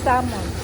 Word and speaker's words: salmon: yung salon Sabi nila ang pronunciation daw ng Salmon is Salmon silent L daw sabi so isunod natin